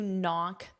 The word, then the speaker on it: knock: Here, the phrasal verb is to knock out. Now, your verb is knock, which of course is knock. Notice that K is silent.